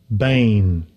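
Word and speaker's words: בן: is strong sage 1121 bane bane yeah that's the way they pronounce begotten in their language before English son children old first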